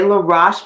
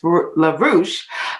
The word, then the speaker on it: Laroche: Joseph Philippe La Mercier LaRoche and I say LaRoche because I'm so used to mispronouncing his name oftentimes people think it's larouche but it sounds like Posh lavage uh when we think of Joseph LaRoche and his French wife they are a he